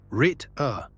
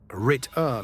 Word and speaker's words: Ritter: Rit-uh, short and clean. Rit-uh means quite literally knight.